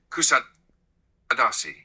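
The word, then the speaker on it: Kuşadası: You meant Kushadasu in English. You would say Kusadasi.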